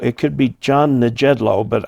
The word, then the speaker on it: Nejedlo: um i'm saying john it could be john the jedlo but i'm thinking the j is pronounced as an h thank you very much